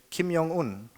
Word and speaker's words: Kim Jong-un: In Germany, they say Kim Jong-un, which with the J pronounced like a Y in English.